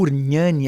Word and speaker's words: Ugnani: O Ugnani é com GN, como se fala nhoque em italiano.